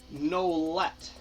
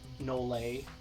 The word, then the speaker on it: Nolet: Simon Nolet. That's not how you pronounce it. Nole. Nole, Simon Nole. My French class helped me.